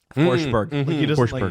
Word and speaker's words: Forsberg: Riad ra see how see how forsberg doesn't really pronounce the g forber hit it yeah yeah